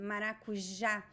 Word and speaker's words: maracujá: And pay attention to the pronunciation, maracujá. So we have the j sound, the letter J in Portuguese. It is pronounced in a very particular way. It is different from Spanish and it is different from English. It is j, maracujá. It is not maracujá. Nope. It is not ja.